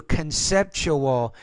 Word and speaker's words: conceptual: Notice the TU, conceptual. Whenever you have a TU in the middle of a word, it's sometimes pronounced as a CH.